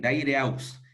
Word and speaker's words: Daireux: Y lo decía esto No, porque en cambio ahora estás en Daireux, si estoy sí, pronunciando bien, Daireux.